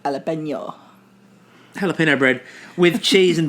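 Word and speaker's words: jalapeño: I think you'll find it's pronounced jalapeno.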